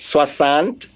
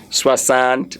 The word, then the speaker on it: soixante: Soixante this. Soixante this. Please, I forbid. I don't want to hear somebody pronounce soixante. It's not soixante. It's soixante. It's what?